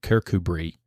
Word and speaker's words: Kirkcudbright: Kirkcudbright pronounced Kirkubree is the artists' town on the Solway coast.